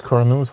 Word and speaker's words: cornuto: Did I pronounce them anywhere near how they're supposed to be pronounced? Mezzasega and cornuto are correct.